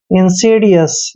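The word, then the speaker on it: insidious: और दोस्तों एस का उच्चारण श करेंगे और आई को ई की मात्रा पढ़ते हैं। डी का उच्चारण डे करना है, आई को ई की मात्रा पढ़ते हैं, यानी कि इंसीडी। ओ यू का उच्चारण य करेंगे और एस को स पढ़ते हैं। इंसीडियस।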